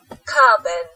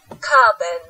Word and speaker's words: carbon: Chúng ta đọc nó là lơ lớ giữa chữ bần với chữ bền.